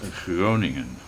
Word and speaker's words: Groningen: Random question, what's the correct way to pronounce Groningen? It is Groningen.